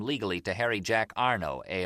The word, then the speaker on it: Arno: Soon as we did, we find out a man named John Arno, A R N A U D, as opposed